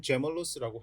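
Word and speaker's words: gemellus: 네, 바로 넘어가서 수피리어 게멀러스 위쌍동이근을 다뤄봅니다. 네, 요 게멀러스의 발음은 제멀러스라고 해도 됩니다.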